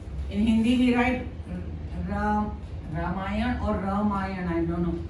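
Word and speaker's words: रामायण: the with them this in English we write ramay we put a a but we don't say I have heard many people say ramayana it's not ramayana it's a Hindi word because it is a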